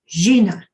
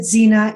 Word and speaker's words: Xina: It's an X, it's Xina, and it's really pronounced Xina. But when I started reading it, when they communicated with me, I wrote down Xina. I pronounced it Xina, and that stuck.